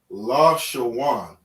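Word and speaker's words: לשון: this is a sham all right so we pronounce this word la shawan and these connectors you see under the characters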